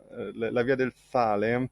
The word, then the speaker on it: La Via del Sale: Yeah, you actually pronounced it quite well. So, La Via del Sale.